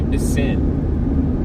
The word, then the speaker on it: piscine: In French, it's a piscine, okay? But if you say it like slow, it's a piss in, right?